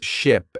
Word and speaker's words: ship: Ship has a short I sound like in sit and sheep has a long e sound like in sea.